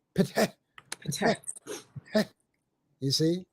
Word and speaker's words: Ptah: That is the H for patah, patah. Okay, we put the A in there in order to make it easy for people to pronounce it, but it's PTH, patah, patah, patah.